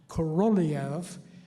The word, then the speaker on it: Korolev: guy named Sergei Korolev, I've pronounced that name wrong for so long, Korolev was his name, also planned his first satellite, Sputnik 1, to be a scientific instrument.